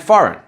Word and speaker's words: foreign: Words like design, assign and foreign. In these words, again, we don't say the 'g' we only say the 'n' and the reason is the same.